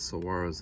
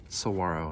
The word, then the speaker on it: saguaro: a trip you'll notice that this book has saguaros in it but the pronunciation key in the book is incorrect saguaro not saguaro where were we in early spring